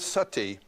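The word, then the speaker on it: सती: You know the word sati? In Sanskrit, it's spelled s a t i, long i.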